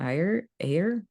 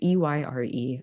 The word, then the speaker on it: Ayer: And there was actually a recent article, column from Makana Ayer. It's Eyre.